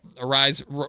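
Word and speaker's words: Arraez: Aras appropriately rhymes uh arise appropriately rhymes with prize.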